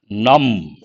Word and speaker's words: numb: And if you take frostbite, when you're exposed to a lot of cold, your fingers become numb. Here the letter B is silent.